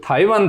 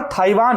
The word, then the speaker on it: Taiwan: ये हुई की जो थाई वैन था अच्छा इसका सही उच्चारण ताइवान है ये मेरे ख्याल